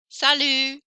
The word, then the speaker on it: salut: Français, français, sport, sport, vous, vous, salut, salut. So I don't hear those final consonants. I hear everything up until the final consonant.